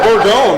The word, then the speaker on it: Bourgogne: It's Bourgogne, right? Bourgogne. Bourgogne. Yeah. And what do people say? Bourgogne.